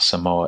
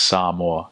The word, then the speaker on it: Samoa: And my uncles and dads like, "It's not Samoa, it's Samoa."